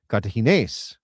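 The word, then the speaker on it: Cartaginés: Kartahene because there's an accent on the E.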